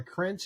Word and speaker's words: Krajnc: are listening It's like the city uh krentz is spelled k-r-a-j-n-c so that they can find your